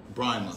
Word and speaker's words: Brahma: I always say your name wrong. Is it Brahma? Brahma.